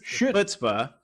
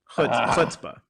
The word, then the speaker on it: Chutzpah: Chutzpah. Chutzpah. Yeah, that's okay. You're learning Hebrew. This is my job to teach you. But yeah, so the ch, that guttural sound in the throat.